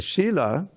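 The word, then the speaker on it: śilā: of some of you the difference between and Sheila a Sheila is a stone Shila is behavior I'm sorry it's the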